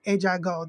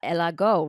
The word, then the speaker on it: Ella Go: started your company called Ejago. That's how you say it, right? Well, I love that you say it like that. Porque it's really Elago.